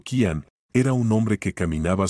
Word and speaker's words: Kian: El alfa pronunciado Kanan era un hombre que caminaba sobre el filo de una navaja.